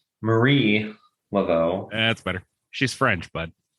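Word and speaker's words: Marie Laveau: right I love learning and it's Marie just for the record no you pronounced it wrong oh no it's Marie lot as far as you know I can prove it prove it I will right after we're done recording okay Marie Lao that's better she's French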